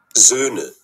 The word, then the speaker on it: Söhne: জোনে, এটা ও উমলাউট দিয়ে আছে, এবং এগুলোর উচ্চারণগুলো হচ্ছে একটু ডিফারেন্ট। দেখি, জন, জোনে, Söhne, Söhne, Söhne.